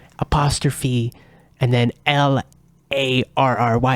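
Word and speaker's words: O'Larry: O Apostrophe and then l a r r y it's actually pronounced Larry but he he pronounces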